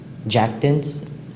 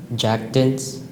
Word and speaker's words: jactance: Are there any alternate pronunciations? No, sir. Jactance? Jactance. Jactance? Jactance. Can I have the word of origin again, please? Sure. It's from French, which formed it from a Latin word. Jactance?